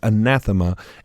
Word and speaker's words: anathema: Now the word accursed in Greek is pronounced is it anathema? Very good. Very good. Yes, it's anathema.